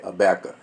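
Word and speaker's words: Habakkuk: uh bacca is h-a-b-a-k-k-u-k now everybody pronounce it different i'm gonna just say a bacca it don't matter about that let's just get into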